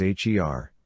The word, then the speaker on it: H.E.R.: better known professionally as h ER pronounced her a backronym for having